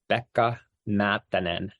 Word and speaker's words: Pekka Maattanen: So let us hear the correct Finnish pronunciation of your name. It's Pekka Maattanen.